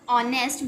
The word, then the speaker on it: honest: We have used "and" with honest because in this word the sound of H is silent.